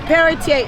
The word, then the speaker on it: Pelletier: I've failed to pronounce Pelletier? Yeah, it's Peretier. It's French. I'm not French myself, but it's Peretier.